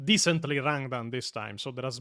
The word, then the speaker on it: Rangdan: This force would be apocalyptic in power and more than capable He pronounced decently Rangdan this time, so there has been a bit of an evolution.